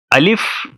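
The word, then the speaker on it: الف: ये अलिफ है, इसको अलिफ कहते हैं, और इसकी आवाज़ होती है अ, और ये इंग्लिश में भी लिखा हुआ है अ।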